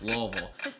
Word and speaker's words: Louisville: Louisville. Shout out, Kentucky pronunciation of things. It's not Louisville, it's Louisville.